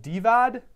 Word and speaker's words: Divad: There's David, who's the main David, and then the first alternate David that showed up is called Divad, D-I-V-A-D, D-I-V, yeah, I said it right.